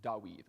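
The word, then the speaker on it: דוד: bible shamu ale okay this is samuel or daawith well this is david while kasha doesn't sound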